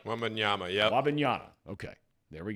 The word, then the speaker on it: Wembanyama: Wembanyama, yep.